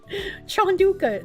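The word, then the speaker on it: Chanukah: It's pronounced the same. Chanduka. The ch is hi.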